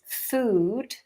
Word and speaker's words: food: Ooh is what many people think. And when we pronounce food, that is correct.